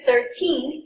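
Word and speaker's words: thirteen: When you listen to 13, it's always the second syllable that is prolonged and emphasized. For example, 13, okay? For 30, it's the first syllable.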